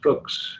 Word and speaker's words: Fuchs: And that's Fuchs. It rhymes with books.